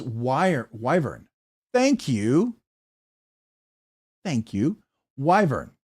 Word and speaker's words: Wyvern: Thank you Wyvern. Wyvern and I would have pronounced it like I thought it was a short I but Wyvern. Thank you for pron for correcting me.